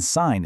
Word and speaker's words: sign: The G in sign is silent, but you can totally hear it in signature.